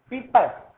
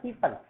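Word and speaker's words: people: Next देखिए, पीपल या प्यूपिल, जो करेक्ट प्रोनाउंसिएशन होता है वो होता है पीपल।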